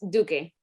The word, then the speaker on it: Duque: It's pronounced Duque. Duque. Okay, all right, got it. All right. Now, You can say like Duque. Duque. Yeah.